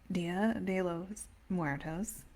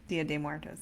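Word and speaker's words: Día de Muertos: So, Dia de los Muertos, if, Dia de Muertos is the proper way to say it, but um, has been celebrated in Oaxaca for much, much longer.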